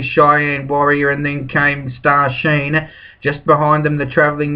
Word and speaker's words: Star Sheen: now going in with star sheen that's how i'll pronounce it until the owners tell me it's star shine well they should have put the s instead of the c shouldn't they star shine is anyway star sheen it is